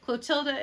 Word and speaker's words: Clotilda: Clotilda is actually it's a French word, or it has French and German origin.